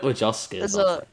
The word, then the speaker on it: Wojcicki: I don't know why I pronounced a B. There's no B. What is there then? It's like Wojcicki. Nah, you said it correctly because you know how to pronounce your own name. It's obviously just like a silent B or something.